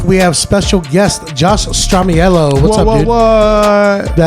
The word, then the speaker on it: Stramiello: I don't think I've ever in my entire adult life corrected someone on my name because there's Stramiello, with almost an O is the correct pronunciation.